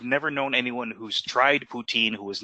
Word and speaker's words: poutine: hate mail that I'm pronouncing it poutine instead of poutine, which is the way they like to pronounce it. But I'm sorry, I'm not. I'm saying it's poutine.